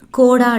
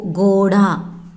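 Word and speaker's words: घोड़ा: கோடா இல்லை, கோடா.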